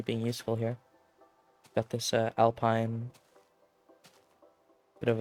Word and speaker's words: Alpine: I mean, Pierre is doing work in that alpine. It's weird that when it's about like mountain, like the Alps, I say alpine, but the team Alpine, I pronounce it Alpine.